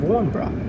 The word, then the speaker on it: Warnbro: Warnbrow. W-A-R-N-B-R-O. But you just pronounce it Warnbrow.